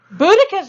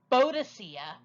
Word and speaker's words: Boudicca: what's in a name boudicca's name had several spellings and even alternate pronunciations such as but egg vada sia Boadicea but Boudicca is the name we have from Tacitus who was a Roman scholar